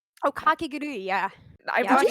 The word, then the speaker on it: Kakegurui: Kagaguri. Oh, Ka- Kakegurui, yeah.